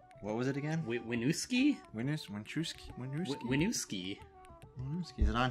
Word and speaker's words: Winooski: I probably butchered that name. What was it again? Winooski?